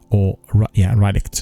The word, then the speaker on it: Rylicht: And then they also brought in the community cartographer called Rylicht, Rylicht, that's correct pronunciation, to develop call-out map overviews.